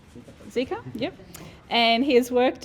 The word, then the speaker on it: Zika: the 2009 flu pandemic ebola and do i pronounce it zika zika yep and he has worked in brisbane rockhampton